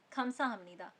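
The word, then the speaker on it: 감사합니다: खमसा अमीदा खमसा अमीदा यह तो आपने नोटिस करा ही होगा कि हम लोग लिखते हैं खमसा सा हपनीदा लेकिन उसको प्रोनाउंस करते हैं खमसा हमनीदा दूसरा है झनन हकसिंग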